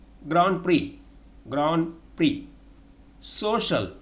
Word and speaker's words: grand prix: not pronounce its pronunciation that's not known in pronunciation almond a-l-m-o-n-d almond not almond almond comfortable comfortable not comfortable grand prix ground free social not social social summon s-a-l-m-n summon not